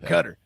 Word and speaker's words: Qatar: Cutter. Yeah, the hive is incredible. Does Cutter get upset if people call it Qatar?